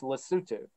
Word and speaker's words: Lesotho: It's based in Lesotho, but it's pronounced Lesotho.